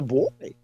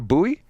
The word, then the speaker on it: buoy: No, it's a buoy. It's a buoy. It's not a buoy.